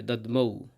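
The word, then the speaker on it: দধ্মৌ: এরপর হবে দাদ মৌ। এখানে ধ এবং ম সংযুক্ত বর্ণ রয়েছে। তাই ধ টা অর্ধেক হবে। ম টা ঔকার যাবে। দমৌ।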